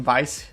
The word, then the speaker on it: Vice: That's apparently how to say this name, Vice.